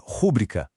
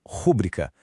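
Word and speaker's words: rubrica: E na pronúncia, o certo é rúbrica com a sílaba forte nobri. e não rúbrica.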